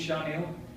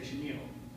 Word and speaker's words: Shanil: fairly very good like my name is Chanel but when you spell it most people even look sweetness belly they'll say Chenille my name is that's